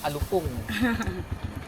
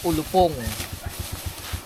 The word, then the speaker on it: alupong: mali ako sa bigkas dito sa Nueva Ecija ang ang tawag sa Cobra ay alupong Although sa Tagalog ang Tagalog ng Cobra ay ulupong alupong alupong Oo pero